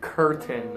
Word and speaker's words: curtain: job this one is I want your lips to be forward and open so I'll show the camera here this was her okay so your lips are open and forward her early curtain okay John can you